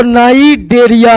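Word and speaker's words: Cnidaria: नाइडरिया का सी साइलेंट हो जाता है। इसको नाइडेडरिया ही पढ़ते हैं।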